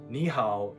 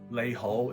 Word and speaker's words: 你好: Ni hao is hello in Mandarin. Nei Ho is how you say it in Cantonese.